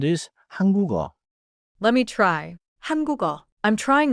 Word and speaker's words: 한국어: 한국어.